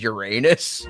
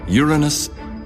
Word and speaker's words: Uranus: there's no foolproof way there's no foolproof way you're either saying urine or anus no matter what you